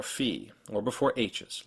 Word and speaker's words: Fee: And that German long vowels come before 1 or fewer consonants, as in Dieb or Fee, or before H's, like in Ale or Windmühle.